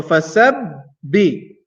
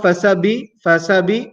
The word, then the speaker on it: فسبح: So fasabbi, fasabbi, fasabbi, two times. Fasabbi. Okay? Not fasabi, no. Fasabbi.